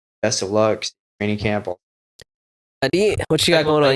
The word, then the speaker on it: Aadit: Aadit, what you got going on? You got fights? Did I say it right? Yes, sir, yes, Aadit?